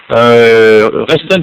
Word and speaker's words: Reston: Reston, comme ça se prononce, R-E-S-T-O-N.